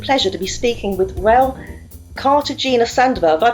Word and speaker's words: Rael Cartagena Sandoval: Today, it is my absolute pleasure to be speaking with Rael Cartagena Sandoval. Have I pronounced that right, Rael?